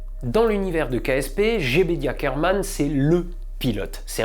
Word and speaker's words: Jebediah: Bon, MechJeb pour Mechanical Jebediah, oui, c'est comme ça qu'on prononce Jebedia en anglais, c'est tout simplement, mais en toute complexité, un pilote automatique très, très complet.